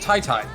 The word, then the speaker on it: TYTY: TYTY's name is pronounced Tai-Tai.